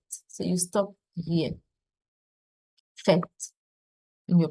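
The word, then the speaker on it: faites: write o z it's o s and it's pronounced fet fet so you stop here fet in your pronunciation and the third person plural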